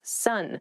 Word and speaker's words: son: male child is someone's son sun s-o-n is pronounced exactly the same as s-u-n sun what are you talking